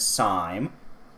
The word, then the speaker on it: Syme: episode her name is officially pronounced as the game itself said syme because it sounds like rhyme ran into trouble some